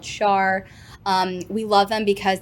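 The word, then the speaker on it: Schär: you spell that sure so Char is spelled um s-c-h-a-r um it actually is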